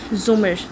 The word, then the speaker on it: زمر: بھی ملاقات ہوئی تھی۔ اس نے البتہ زمر کا نام غلط تلفظ سے بولا تھا، رے کے اوپر زبر کے ساتھ اف۔ اٹس زمر، زے کے اوپر پیش۔ اس نے توڑ کر